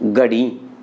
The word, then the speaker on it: घड़ी: राजस्थान के लोग उच्चारण करते हैं घड़ी, लेकिन वहां उच्चारण क्या होता है, गड़ी।